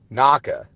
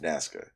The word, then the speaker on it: Nazca: Shawn okay well that's what I meant but pronounce it say it naka is not what it is is it not naka not nasca it's Matt I'm telling you right now it's pronounced Nazca maybe the S I just don't see an